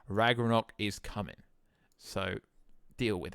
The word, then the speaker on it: Ragnarok: reg we're not wrong I'm from England I pronounce it the English way Ragnarok is coming so deal